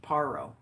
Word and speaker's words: Parrot: Parrot, pronounced Paro.